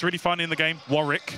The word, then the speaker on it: Warwick: Warrick, that's how you say it. No, it's Warwick.